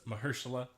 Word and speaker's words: Mahershala: I was really into Luke Cage until Marshall Ali died. And then I didn't care anymore. I believe it's Mahershala.